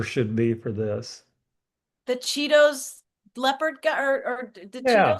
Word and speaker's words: Cheetos: Cheetos rhymes with mosquitoes.